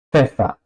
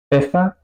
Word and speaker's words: Pfeffer: Pfeffer, pepino. Apfel, manzana. ¿Ok? Esa combinación suena un poco si alguna persona es un poco arrogante y dice, ¿qué más da? Así suena la PF en alemán.